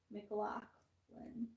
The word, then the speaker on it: McLachlan: I think it's like McLog. Spelled with an A or a C? I think a C. I think it's McGlock. MCG? Yeah. Hold on. I'm finding out. Oh, I'm sorry. MCL. McLaughlin.